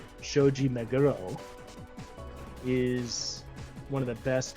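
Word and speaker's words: Shoji Meguro: Like Shoji Majurro, oh my gosh, now I'm going to die from fans for pronouncing it like that. Shoji Meuro is one of the best composers in video games in my opinion.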